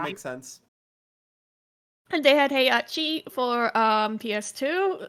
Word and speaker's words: Heihachi: And they had Heihachi for PS2. Say his name right, Sonia. Wasn't that his right name? Hetchi.